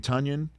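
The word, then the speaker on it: Tonyan: don't call me tanyan tanyan rhymes with funyun tanyan it makes total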